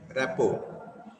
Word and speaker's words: rapport: Rapport. And its pronunciation, actual pronunciation is, or the spelling is rapport.